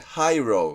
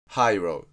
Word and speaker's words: Hiro: を英語式に読んで Hiro って読む。